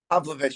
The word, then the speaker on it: Pavlovich: Pavlovich, I think. Pavlovich.